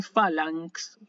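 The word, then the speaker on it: φάλαγξ: Esto se lee phalanx, así se lee, ¿sí?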